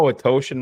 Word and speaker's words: Atoshan: Just let her know Atoshan rhymes with Italian lotion.